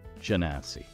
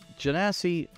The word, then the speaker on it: Genasi: time around we're doing this janasi that's how it's pronounced janasi janasi to most common folk